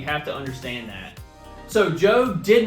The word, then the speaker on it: Job: talking about the famous job it is not pronounced job although it is spelled that way it's pronounced job so everything that job went through all the